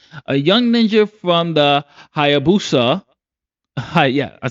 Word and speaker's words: Hayabusa: shoes of Kenji, a young ninja from the Hayabusa. Hi, yeah, I said it right. Hayabusa.